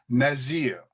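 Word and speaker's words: נזיר: that pronunciation of Natsareth, and the Z up here for Nazarite gives us the pronunciation Nazir.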